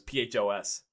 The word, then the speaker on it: Phos: which was it was called foes if i pronounced that right it was phos so it should be yeah and i because i